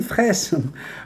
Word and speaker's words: Fraysse: fraises fraîches par fraysse bonjour tout le monde et merci encore pour la prononciation de mon nom de famille est oui le ysk prudence le y se prononcer j'avais l'impression comme au